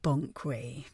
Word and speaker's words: Banquet: It's pronounced Bonkway. Sorry, Lady Bonkway.